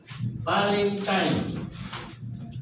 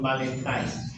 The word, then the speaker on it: Valentine: la toxina panton Valentin la escribimos como panton Valentin pero en realidad la pronunciamos como panton valentine esta es una leucocidina